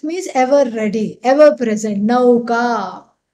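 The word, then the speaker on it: नौका: Nauka means boat. Nauka. Yeah. So in Hindi you say nauka because in Hindi the pronunciation is different. It is in Sanskrit how you see it is how you pronounce.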